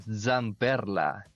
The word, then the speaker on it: Zamperla: Aquí vamos con Zamperla. Y ¿Cómo? pronuncio bien la Eso. Z. ¿Por qué? ¿Viste? Estoy hablando Perché. solo italiano. No. ¿Por qué? Porque generalmente no la pronunciamos bien.